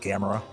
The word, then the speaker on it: Gamera: George, it's pronounced Gamera. Gamera? It's not yes. Gamera? Lights, hey, camera, action.